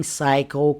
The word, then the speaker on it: psycho: A frightening psycho caught a flight to the island on Wednesday. GH in frightening. Psycho. The P is silent.